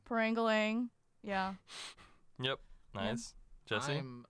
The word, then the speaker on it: Parangalan: it's pronounced Parangalan. Parangalang, yeah.